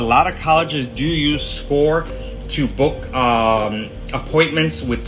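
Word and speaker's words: Scoir: the Common App uh on score that's pronounced score the reason is because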